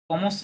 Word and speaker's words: commencent: কমস হবে শুধু, হ্যাঁ শুধু কমস হবে, শেষে ওয়েনতে আছে, খেয়াল করেন। পূর্বে সাবজেক্টটা থার্ড পারসন প্লুরালে আছে, লে ফেস্টিভিতে আছে, Hmm. তাহলে এটা কি হবে, ওই ওয়েনতে সাইলেন্ট হবে, সাইলেন্ট হবে, হ্যাঁ কমস হবে, নট কমসে অর সামথিং।